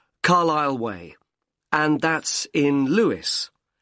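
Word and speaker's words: Carlisle: and your address 45 Carlile way could you spell carile for me sorry it's c a r l i s l e you don't pronounce the S Carlile way and that's in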